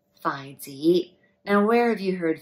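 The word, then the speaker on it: 筷子: And chopsticks in Cantonese is pronounced as Phi, Phi Z.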